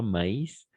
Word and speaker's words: maïs: Mais, ici, on va prononcer mais, pas maïs, parce qu'il y a un mot en français, maïs, d'accord? Et c'est pas la même chose avec mais. Maïs, ça veut dire, oui, maïs, d'accord?